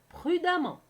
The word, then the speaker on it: prudemment: prudent ça donnera prudemment remarquez bien qu'on a écrit le mans mais ça se prononce prudemment expression il ya toujours